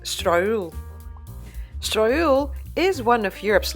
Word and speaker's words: Strøget: Well, actually it reads Strøget, but I went to look it up and learned that it's pronounced Strøget.